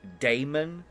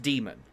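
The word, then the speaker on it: daemon: Five, six, uh, they use D A E M O N like Damon, but it's pronounced demon.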